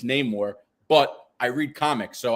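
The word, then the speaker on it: Namor: stuff because I don't I mispronounced his name as neore when it's name more but I read Comics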